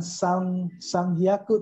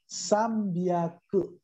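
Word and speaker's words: 三百: Kalau 300 bukan sang hyaku tapi sambyaku. Sambyaku. 300 itu dibaca dengan sambyaku.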